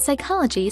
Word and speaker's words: psychology: a silent n and psychology starts with a silent p mnemonics that is memory